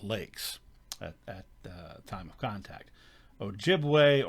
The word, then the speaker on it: Ojibwe: at time of contact ojibwe or ojibwa and sometimes that was sort of uh mispronounced or pronounced in such a way by the american colonists that ojibwe became chippewa which is where we get chippewa so chippewa ojibwe ojibwa